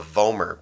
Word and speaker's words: vomer: That's called the vomer bone. Right? Vomer, rhymes with gomer, looks like a plow, and that's kind of where it came from.